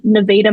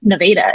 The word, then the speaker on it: Nevada: I think there's a Nevada, Missouri, if I'm not mistaken. I lived in Arkansas, but that's how they pronounce it. Nevada. It's not Nevada.